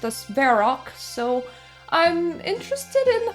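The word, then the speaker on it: Varrock: And just to make sure, yep, I am definitely in the right place because you see, I break it down as the rock as in a rock.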